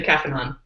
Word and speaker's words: Caphenon: Okay, well, there's actually 2 ways to pronounce it. It depends on if you're an American reader or a European reader. Okay. And I've been trained by my wife, who is, of course, native Portuguese. The way she pronounces it is Caphenon. And the average American reader, like me, is going to say the Caphenon.